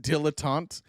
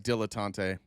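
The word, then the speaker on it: dilettante: pronounced dilotant. Is it really? It looks like dilotante.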